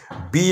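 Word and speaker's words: bay: দরকার নেই ওটা তো তুমি মাথার মধ্যে রাখলে বি এ ওয়াই বে মানে উপসাগর এটা শুধু লিখবে বয় একারটা একেবারেই লিখবে না যদি উচ্চারণটা লিখে লিখে অভ্যাস করো তাহলে কিন্তু উচ্চারণ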